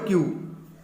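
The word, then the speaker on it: queue: ठीक है, the word क्यू इज the only word. ये जो क्यू वर्ड है ओनली एक ऐसा वर्ड है इंग्लिश लैंग्वेज में that is pronounced the whole for its first letter.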